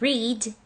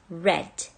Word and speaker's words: read: Stays as put, and read becomes read. The same spelling, but they differ in pronunciation.